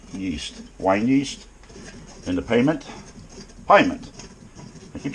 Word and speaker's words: Pyment: Pyment.